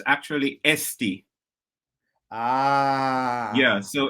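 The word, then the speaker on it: Eesti: Estonia oh so in Estonian language it's actually SD yeah so it's not Estonia it's SD and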